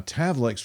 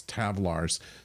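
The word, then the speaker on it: tavlek: Now the uh tavlex which Kiteon mispronounces as tavlars throughout the episode to the great annoyance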